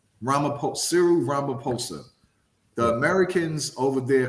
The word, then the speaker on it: Ramaphosa: and his name is cyril rump how you pronounce the last name ramaphosa the americans over there call them uncle cyril